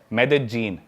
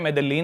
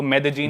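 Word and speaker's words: Medellín: उसकी एक सिटी है मेदजीन। स्पेलिंग में उसमें डबल एल आता है। मेदलीन होता है। लेकिन कोलंबियन स्पैनिश में ल बोलते हैं। तो मेदजीन वो शायद उसकी मेन सिटी है ना उस कंट्री।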